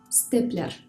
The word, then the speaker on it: степлер: the words модель, флешка, степлер. In these words, the consonants D, L, T are pronounced hard, even though they are followed by a soft vowel.